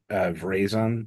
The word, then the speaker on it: Veraison: So that's Verizon, I think is how you say it.